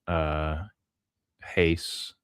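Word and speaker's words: εἷς: But because I think you have to acknowledge that echad, or even heis, is it? Yeah, it's epsilon iota, so it's heis or heis. I use the Erasmian pronunciation because that's what I learned.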